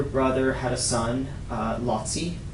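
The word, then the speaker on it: Laci: Um her other brother, um her other brother had a son, uh Lotsi. It's spelled L A CI.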